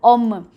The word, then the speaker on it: hommes: So, we don't pronounce the letter H at all. It's pronounced as om. So, when we say these men, we don't say om.